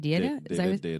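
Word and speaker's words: Deida: Was it David Data? Data, that's how you say it.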